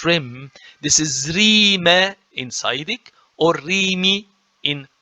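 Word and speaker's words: ⲣⲓⲙⲉ: This is not Rim, this is Rime in Saidic or Rimi in Buharic. Noted, okay? So the Coptic tells me that there is a vowel in between here, which is the I, iota.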